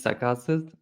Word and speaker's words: Sakalsiz: we have come across could you help us pronounce that properly the surname yeah my surname is sasus um so yeah it means that beardless so